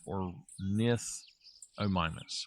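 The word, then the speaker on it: Ornithomimus: No no or nithomimus.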